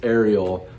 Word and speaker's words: Ariel: really loved, which was Ariel by Sylvia Pla. And thank you in the comments for correcting my pronunciation of Ariel and not Ariel. I don't know why I thought it was Ariel.